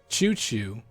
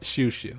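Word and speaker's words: Shushu: People are gonna pronounce that as Choo Choo. They might even say Chow Chow. It's Shoo Shoo. So they spelled it wrong.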